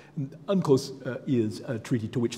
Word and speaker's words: UNCLOS: law of the sea unclose as the acronym is usually pronounced uncose is a treaty to